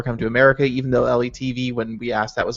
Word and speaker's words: LeTV: Letv. No, it's dumber than that. So LETV, you just say all the letters.